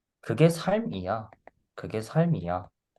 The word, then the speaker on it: 삶: the pronunciation is more like S-A-L-M. Here it says just S-A-M, but then it's more like S-A-L-M. So it's like 삶. The L pronunciation is in the middle.